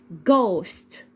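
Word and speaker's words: ghost: وليها اصوات تاني برض الجي والاتش لو جت معايا في اول الكلمه بنطقها ازن ج زي كلمه ايه جوست جوست اللي هي معناها شبه وكلمه غول اللي هي جول جو جول الجي والاتش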